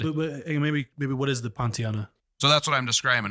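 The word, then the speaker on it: Pontianak: But so and we had to look up how to say it, but it's a Pontiana or Kuntianlana.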